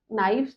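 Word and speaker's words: knife: lives right नाइफ का नाइफ इसको के नाइफ नहीं बोलेंगे के इज साइलेंट राइट काल्व नहीं बोलेंगे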